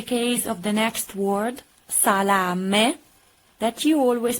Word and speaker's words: salame: So the correct pronunciation of this word is salame, not salami, salame. The final E has to be pronounced E, not E. In Italian is E, and pronounce it.